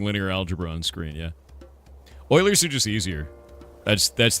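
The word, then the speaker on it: Euler: Basically, you turn it into an Oiler angle, which is pronounced Oiler, not Uler. Even though it looks like Uler, after all that, are you awake yet?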